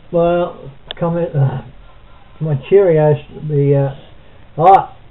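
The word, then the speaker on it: Kyrgios: I I think it's curios curios you don't pronounce the G is that gent anyway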